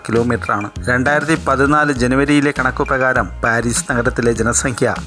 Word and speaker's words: Paris: ഫ്രാൻസിന്റെ തലസ്ഥാന നഗരമാണ് പാരീസ് ഫ്രഞ്ച് ഉച്ചാരണം പാരി വടക്കൻ ഫ്രാൻസിലെ സീൻ നദിയുടെ